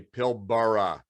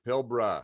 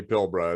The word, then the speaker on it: Pilbara: come here they say pilbara and of course that first a is silent everybody it's pilbara so there's a little